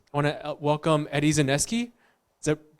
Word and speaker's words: Zaneski: I want to welcome Eddie Zaneski. Is that pronounced it correctly?